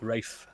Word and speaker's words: Ralph: It's spelled Ralph here. I wasn't thinking, all right? Respect it. But the thing is, no, it's always spelt Ralph. It's pronounced Rafe.